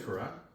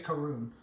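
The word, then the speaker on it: Karun: video camera guy um his name is kara karoon i think k-a-r-u-n i was saying it wrong i think it's karoon oh yeah yeah um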